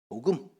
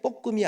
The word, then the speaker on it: 복음: 복음. 발음을 잘해야 돼. 볶음이 아니고 복음.